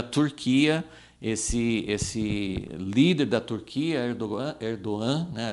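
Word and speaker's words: Erdoğan: Esse líder da Turquia, Erdogan, né? A gente geralmente fala com G, né? Como pronuncia em português, mas Erdogan é um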